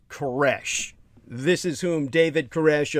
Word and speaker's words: Koresh: cyrus with anglo-corruption in your language c-y-r-u-s it's pronounced koresh this is whom david koresh of the branch